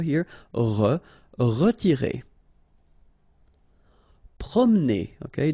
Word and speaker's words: promener: Promener, okay, don't insist on this E here, okay, so it will go like prom, promener, promener. Forcer.